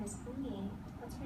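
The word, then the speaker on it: Unhei: No, Eun-hye corrected. "It's spelled U-N-H-E-I. It's pronounced Eun-hye. Eun-hye. Eun-hye." "Oh, it's you-hey," the boy said.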